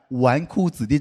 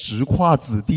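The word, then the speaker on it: 纨绔子弟: It took me three years to finally understand the meaning of the word "wánkù zǐdì" (playboy). It's not pronounced "zhíkuà zǐdì," you know?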